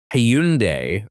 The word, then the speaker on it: Hyundai: the other day where it says it's like Hyundai or Hyundai or something and it was like uh that's a Hyundai and we're correct and you're wrong.